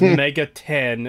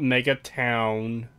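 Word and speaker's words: Megaton: unrespect the CityVille by getting its name wrong we all know it's Mega 10 and not Mega Town yeah oh my God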